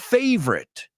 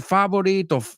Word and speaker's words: favorite: But just the word favorite. Favorite. I've heard ya varias personas decir favorito, favorite, favorite. Dos sílabas.